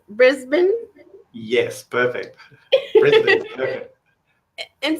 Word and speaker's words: Brisbane: Brisbane?